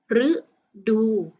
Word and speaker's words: ฤดู: คัน แรก นะ คะ ตัว รึ ข้าง หน้า ตัว รึ เนี่ย ไม่ มี พยัญชนะ ใน ๆ นะ คะ คำ นี้ จึง อ่าน ออก เสียง ว่า รึ มา ดู ฤดู ต่อ ไป คำ ที่